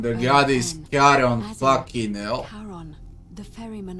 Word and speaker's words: Charon: It's just as you described it, only your pronunciation is a little off. The name you heard wasn't Karen. It was C-H. Charon, the god is Charon, fucking hell.